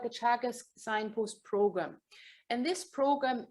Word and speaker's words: Teagasc: So Teagasc is, that's an Irish word. You kind of probably would think it pronounced differently, but it's pronounced Teagasc.